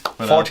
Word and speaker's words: Forteath: Forteath. Forteath.